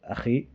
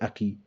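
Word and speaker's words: أخي: they said ka, like akhi, which is a very common thing. We doesn't say akhi in Trinidad often. We say aki. Yeah, aki, and that is wrong, right?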